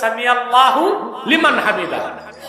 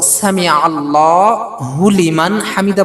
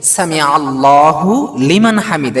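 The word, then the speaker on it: سمع الله لمن حمده: যখন আমরা উচ্চারণটা করব সামি আল্লাহ হুলিমান হামিদা বলা যাবে না হুটা কিন্তু আলাদা সামি আলাদা আল্লাহ আলাদা লিমান আলাদা হামিদা আলাদা এখানে বলতে হবে সামি আল্লাহু লিমান হামিদা এখানে ওয়াকফ করা যাবে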